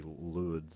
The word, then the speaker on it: Lourdes: is silent in Well, Lord. French, but the way we would bastardize it would be Lourdes, I'd say.